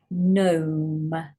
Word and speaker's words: gnome: now you've got a silent um G here again say gnome gnome silent W and a